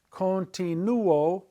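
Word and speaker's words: continúo: I continue tomorrow would be continuo. You hear the u-o as two separate sounds, not gliding together to make one.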